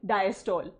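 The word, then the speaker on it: diastole: सबसे पहला फेज का नाम है जॉइंट डायस्टोल। क्या नाम है, जॉइंट डायस्टोल, जो आप बोलते हो बट हम क्या प्रोनाउंस करते हैं उसको, जॉइंट डायस्टले। क्या, जॉइंट डायस्टले।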